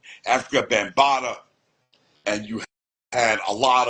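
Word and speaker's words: Afrika Bambaataa: Jazzy J, you had Africa Bambaataa, no, I'm saying it wrong, Africa Bambaataa, and you had a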